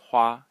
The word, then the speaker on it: 花: so on um the first character um is pronounced ha and is it means flower and it is